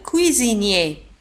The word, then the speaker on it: cuisinier: alors الطباخ le cuisinier un cuisinier. S في وسط الكلمة تنطق Z. cuisinier un cuisinier.